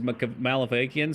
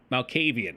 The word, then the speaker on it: Malkavian: I say beat this and then beat it again as Malefakian so we can see the wizard shit. The Malvakian stuff is... I'm not pronouncing that. Malkavian.